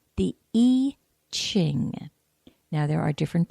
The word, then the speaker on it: I Ching: people say it's the I Ching and then it's just an i and CH ing well the Yi Jing pronunciation is just a bit more Asian in its influence and the I Ching